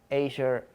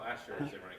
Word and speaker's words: Azure: world you're coming from Asia is I think the American way that's how they kind of pronounce it no Asher Asher Asher actually yeah aure a sure I heard one Australian guy pronouncing it and I don't know the British way but Asher is the correct way so that's how uh